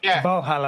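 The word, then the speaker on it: Walhalla: It's spelled with a W in German. Valhalla.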